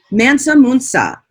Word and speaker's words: Mansa Musa: And how do you pronounce this this leader's name? Mansa Musa. Mansa Musa.